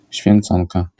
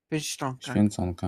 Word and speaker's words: Święconka: Święconka. Święconka.